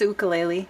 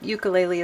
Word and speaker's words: ukulele: the correct pronunciation ukulele there's two pronunciations the hawaiian pronunciation is ukulele okay so i try to honor that but it's so often called ukulele as well uh i'm